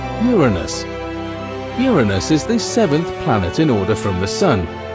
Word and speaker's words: Uranus: People tend to make jokes with its name, but it's actually pronounced Uranus.